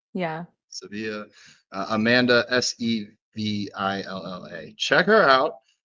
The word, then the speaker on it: Sevilla: All right, Sevilla. Yeah. Sevilla.